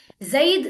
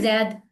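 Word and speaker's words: زيد: जईद एक किसी शख्स का, किसी लड़के का नाम है। जईद उर्दू में हम कहते हैं जैद, अरबी में जरा उसको प्रॉपर प्रोनाउंस करते हैं जईद।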